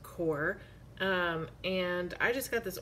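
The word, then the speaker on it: QoR: I have this Core watercolor, which it's spelled Q-O-R, but I guess it's pronounced Core.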